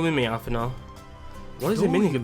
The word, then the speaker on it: Alphinaud: You don't pronounce a D at the end of it. It's ALPHINAUD, not ALPHINAUD.